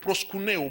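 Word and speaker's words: προσκυνέω: Adorer vient du mot grec proskuneo. Proskuneo vient dire viens, approche et fais un baiser. Quand on parle de baiser, proskuneo, il y a deux syllabes. Il y a prosku, il y a neo, qui veut dire approche et adore.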